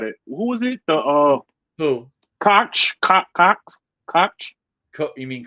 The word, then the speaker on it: Koch: Koch. You mean Coke? Koch, yeah, Koch. Yeah, it's spelled Koch, right? But Coke.